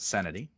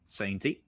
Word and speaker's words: Sainty: I say his name right. Santi. Sainty. It is not Sanity. Sainty.